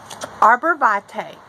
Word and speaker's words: arborvitae: So, arborvate, that is spelled A R B O R B I T A E.